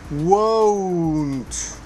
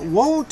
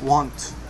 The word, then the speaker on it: won't: faster don't don't don't won't now remember if you have trouble with the w sound begin with the ooh whoa whoa whoa whoa i won't i won't now won't is very important because